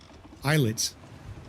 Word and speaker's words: islet: Let's go to All Flags Islets. Because the S is silent. I learned that the other day. Get that silent S in islet. Looks like it should be islet, but it's not.